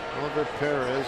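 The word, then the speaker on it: Oliver Pérez: Oliver Perez, that's how he pronounces it.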